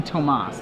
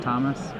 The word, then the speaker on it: Tomas: It would be Tomas, not Thomas. He's pretty Americanized, so okay, so we'll go with Thomas. Yeah, I'd just say Thomas.